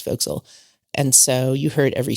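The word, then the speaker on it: forecastle: And we had the chance to sleep in the folks, which is spelled for castle but pronounced folks.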